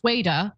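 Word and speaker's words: Sweida: Wishing Wells writes in and says, pronounced Sweda, that's the area of Syria that they mostly live in.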